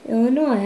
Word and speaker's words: Illinois: It ends with an S, but don't say it, boy, when mentioning Springfield, Illinois. The yes is silent, man. I'm sorry. I meant to say Springfield, Illinois.